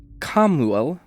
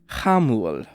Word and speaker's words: Chamuel: It could be Kamuel, like with like a hard K sound, and the name is often spelled like Camiel, Camiel, or Hamuel, which is what I expected. So yeah, his name is Hamul. Let's call him that, Hamuel.